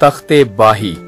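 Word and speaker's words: Takht-i-Bahi: The actual name of this site is not Takht Bhai, जिसको लोग अक्सर mispronounce करते हैं। This is not Takht Bhai, this is तख्ते बाही।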